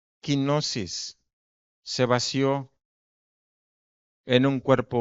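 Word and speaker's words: κένωσις: Hay una palabra griega que se llama o se pronuncia quinosis.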